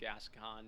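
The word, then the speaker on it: Gascoigne: full of people correcting the way that I pronounce gascan and they're all wrong an NPC calls him gascan in game must have killed gason as well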